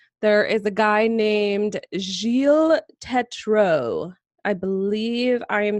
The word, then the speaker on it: Gilles Tetreault: I believe it's Gilles Tetreault.